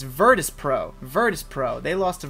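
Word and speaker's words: Virtus.pro: was saying it wrong i was saying Vittra sits virtus pro virtus pro they lost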